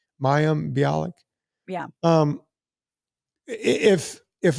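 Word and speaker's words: Mayim: her first name how do you saying that mayam mayam biic yeah um if if a doctor friend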